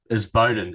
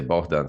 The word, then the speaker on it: Bohdan: Well, in Ukrainian, it's Bohdan. It's a little bit different. Stress remains disputable topic. Some people say Bohdan, some people say Bohdan.